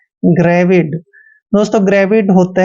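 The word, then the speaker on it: gravid: means क्या हुआ जानलेवा जी आर ए वी आई डी जब भी जी के बाद आर आता है या कोई कंसोनेंट आता है तो जी का उच्चारण ग करते हैं आर को र लिखते हैं ए को ए की मात्रा पढ़ते हैं ी का उच्चारण व करेंगे आई को छोटी की मात्रा पढ़ना है और डी को पढ़ते हैं ग्रेविड दोस्तों ग्रेविड होता है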